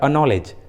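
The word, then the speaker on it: acknowledge: जैसे अक्वेंटेंस, देखिए इस इंग्लिश वर्ड में सी क्यू के पहले आया है, इसलिए रूल के अनुसार सी का उच्चारण नहीं हुआ है, अक्वेंटेंस। उसी तरह अनॉलेज, देखिए इस इंग्लिश वर्ड में सी के पहले आया है, इसलिए सी का उच्चारण नहीं किया गया है।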